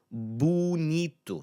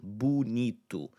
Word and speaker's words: bonito: Domingo, bu-NEE-tu. So in that first placement in a multisyllabic word, so let's say 3 or more syllables, you're largely going to get that U sound in that first syllable. Bu-NEE-tu, domingo, right?